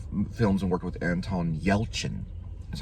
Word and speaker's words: Yelchin: But he did several different films and worked with Anton Yelchin. That's how you say his name, Yelchin.